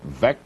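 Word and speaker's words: Veeck: He said his name should be pronounced vec as in wreck.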